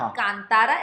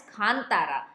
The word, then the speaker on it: Kantara: Sorry, कांतारा नहीं, खानतारा। हाँ, जो उन्होंने हमें प्रोनाउंसिएशन भी बताया कि इट्स नॉट कांतारा, इट्स खानतारा। हाँ।